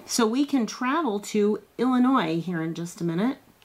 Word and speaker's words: Illinois: And believe it or not, there's an S on the end, but it is not pronounced. You don't say Illinois. Okay. And dot both of your eyes. Illinois.